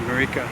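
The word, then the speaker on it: Maricá: And you get a long bus all the way to It's quite charter, Marica they call it, but it's speaking English, you probably pronounce it Marica, which is a really tranquil beach, really thin, desolate beach.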